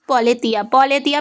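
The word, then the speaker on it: Πολιτεία: next point, the Greek title is पोलेथिया pronounce करेंगे, मतलब इसका क्या हुआ,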